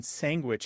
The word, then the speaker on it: sandwich: in parts of Canada this particular pronunciation sandwich is kind of seen as an identifier of being a part of the italian-american community it's one of those